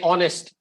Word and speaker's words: honest: example when we say honest h is silent so we don't say it's a honest man he's an honest man okay and why